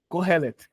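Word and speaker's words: Kohelet: e t não por favor eu quero a pronúncia Corel bem demais que que significa eclesias do Haroldo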